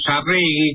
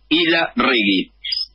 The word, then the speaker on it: Ilarregui: Isla Regui. Vasco igual como lo pronunciase, pero Isla Regui.